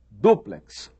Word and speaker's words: duplex: Eles ensinam que quiçá quer dizer talvez, ensinam que a pronúncia correta é látex e ensinam que a pronúncia correta é duplex, triplex.